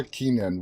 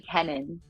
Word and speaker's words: Kennon: uh Lynch and Laura Keenan welcome guys how are you all doing tonight great thanks for having us yeah it is my also my last name is actually Kenan sorry sorry I butchered